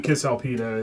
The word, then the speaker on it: Cisalpina: be Cisalpina. It's actually a hard C.